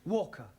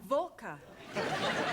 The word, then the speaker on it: Walker: Walker Walker what W is pronounced what your employer's name is Walker yeah volker do you know how many shots mrs.